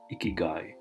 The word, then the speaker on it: ikigai: and drink a little less beer ikigai pronounced ikigai is a japanese concept that means a reason